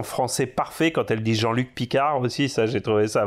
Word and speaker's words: Jean-Luc Picard: Je crois que depuis Neck J, quoi, vraiment depuis la série, c'est la première fois qu'on entend Jean-Luc Picard prononcer à la française.